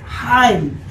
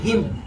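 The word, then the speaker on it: hymn: আচ্ছা, যেমন এরপরে হচ্ছে তুমি এক ধরনের কবিতা দেখবা, উচ্চারণ হচ্ছে হাইম, অথবা তুমি যখন গুগল দেখবা উচ্চারণ আসবে হিম। উচ্চারণ আসবে কি, হিম।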